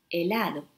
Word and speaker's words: helado: خينيو خيراسون غوما لترا H No se pronuncia إنه صامت مثلا في الكلمة أولا أهلا أو في الكلمة helado, ice cream.